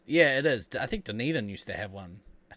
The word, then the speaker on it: Dunedin: I think Dunedin used to have one.